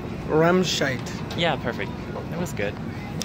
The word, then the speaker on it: Remscheid: Remscheid. Remscheid.